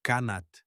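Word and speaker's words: qanat: Pronunciai comigo: Kanat.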